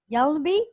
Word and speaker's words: Hjalmby: Can I hear you say it? Hjalmby. Hjalmby. I said it right. Yeah, you nailed it. Absolutely. It's a silent H.